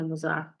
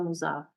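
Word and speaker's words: المضاعف: The doubled verb, root letters क्या है मुज़ाअफ़ के? ज़ाद आइन फा, और इसका मीनिंग क्या है? दुगना करना, डबल करना। डेफिनेशन देखिएगा, अल मुज़ाअफ़ या मुज़ाफ़, आप कुछ भी दोनों में से प्रोनाउंसिएट कर सकती हैं, क्योंकि बुक्स में ये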